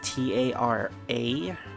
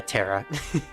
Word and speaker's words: Terra: Usually the way I see it spelled is T-A-R-A, and 9 times out of 10 it's usually pronounced Tara. But yeah, Terra.